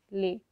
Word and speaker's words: lait: Okay, lait. The pronunciation would be same for all, but the spelling and meaning would be different.